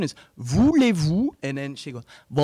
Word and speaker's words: voulez-vous: teacher and I'm like listen so the correct pronunciation is voulez-vous and then she goes ba la beau touche